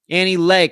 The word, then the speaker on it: Annie Le: Annie Lay. Kathy, Annie Lay. Thank you, Kathy. I knew I got that wrong. Annie Lay, but it's spelled L-E.